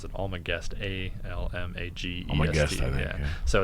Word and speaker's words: Almagest: the almagest um i never know how to pronounce it all my guest a-l-m-a-g-e so it's just this really famous compendium